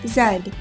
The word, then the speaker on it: zed: letter of the alphabet in Britain the last letter is pronounced zed z z e d